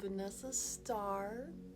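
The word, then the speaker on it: Vanessa Starrr: I am Vanessa.starrr with 3 R's, roll your R.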